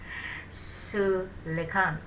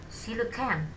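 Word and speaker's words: coelacanth: and even more, like Sulekan. Sorry, I may pronounce it wrongly. It should be silucan. Okay, I repeat. Some ancient fish could live for 100 years and even more, like silucan.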